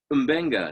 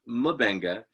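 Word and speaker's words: M'Benga: all along apparently that his name is umbenga not mubenga despite the fact that una called him mabenga last week and i thought oh i've been saying it wrong it's mabenga not umbenga but it is in fact umbenga not mabenga so i'm glad we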